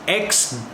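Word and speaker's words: X Æ A-12: It apparently is pronounced X-A12.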